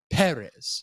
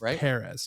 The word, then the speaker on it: Perez: zoi Sala for Emelia Perez Emelia Perez I have the hardest time saying or is it perz I think it's Perez yeah because the accents over the first e yes we'll mix that